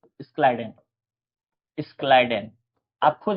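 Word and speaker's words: Schleiden: लोग देखो हिंदी के किताब में देखोगे तो स्लाइडन रहता है लिखा। लोग जनरली स्लाइडन स्लाइडन बोलते हैं। लेकिन अगर आपको प्रोनाउंस करना है तो प्रोनाउंसिएशन जो होता है स्लाइडन कहा जाता है। स्क्लाइडन ठीक है?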